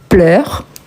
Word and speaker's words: pleures: La prononciation, c'est exactement la même, mais ici, on écrit avec S.